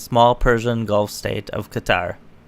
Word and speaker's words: Qatar: Persian Gulf state of Qatar actually I think it's pronounced Cotter Saudi Arabia Egypt the